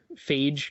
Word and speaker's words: Feige: And Kevin Feige, or however you pronounce his name. Yeah, Phage, because it rhymes with beige, but I don't know.